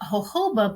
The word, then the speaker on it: jojoba: was educated, once I knew the benefits of Hoba, which far outweighed any other medium I felt, it was an easy easy change. So let's just go into what Hoba is. It's it's actually pronounced um hoba, but it's spelled j o j o.